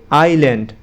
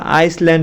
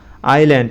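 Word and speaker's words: island: অর্থ মধু আই তে আইল্যান্ড আবার তোমরা আইসল্যান্ড বইলো না ঠিক আছে আই এস এল এন ডি আইল্যান্ড এখানে এস উচ্চারণ হবে না আইল্যান্ড আইল্যান্ড অর্থ হলো দ্বীপ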